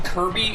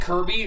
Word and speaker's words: Kirby: But also the fact that, Sakurai, the dude who made Kirby liked the name because it was a very hard sounding name. Kirby, with a hard K sound right at the very beginning with a bunch of